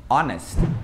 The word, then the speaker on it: honest: Algumas poucas palavras em inglês também, quando tem um H no início da palavra, esse H é mudo. Porque no português todo H é mudo, tipo hotel. Só que no inglês o hotel fica hotel. Então repara que o H já tem um som que raspa a garganta. Mas algumas palavras não. Por exemplo, hour, ou então honest, tá? Hora e honesto, isso aí também, o H ele é mudo, mas é bem raro,